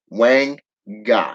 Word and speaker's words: wanga: Okay, and it is pronounced Wang Ga, as in WAHN dash GA. Wang Ga. Okay, in voodoo magic. The Congo Wanga was used in type of Nago spells.